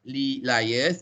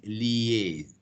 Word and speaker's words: liaise: So it is not liars, but it is liaise.